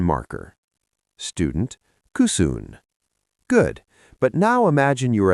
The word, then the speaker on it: kysyn: Cusoon.